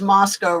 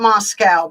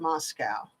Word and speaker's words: Moscow: oh this is funny it says mosow rhymes with Costco well then it's not Moscow but but I've heard from people that live there they call it Moscow okay um who was